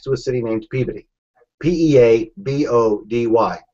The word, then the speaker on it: Peabody: is right next to a city named PE p e a b o d y pey That's how you pronounce it that's how every pronounced it pey